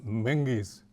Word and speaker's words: Means: She said, "You understand though that the Means family is a Gaelic family and the name is pronounced manges, manges with a G."